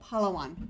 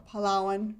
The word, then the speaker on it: Palawan: And we're going to be moving down to the island of Palawan, or Palawan. It's pronounced different ways.